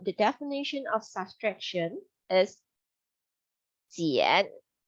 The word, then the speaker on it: 减: So in Chinese, we say 减. It sounds like Jian, 减.